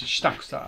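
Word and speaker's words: 下草: Basically, like the Japanese word is shitakusa. You may have heard other pronunciations of this, including some very funny ones. But yeah, it's shitakusa.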